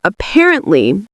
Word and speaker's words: apparently: So for apparently, the second syllable is what we say with emphasis. So it's the part we say louder and longer.